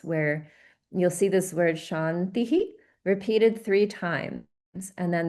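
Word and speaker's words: शान्तिः: So keep in mind that um the viscas in the first two will be pronounced differently from how it is at the end because these two are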